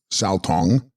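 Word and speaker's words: gsal-stong: Gsal Stong, pronounced Sao Tong, radiance and voidness.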